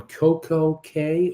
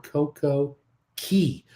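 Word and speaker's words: CocoCay: on monday you're on coco k or coco key you picked the pronunciation you're on their private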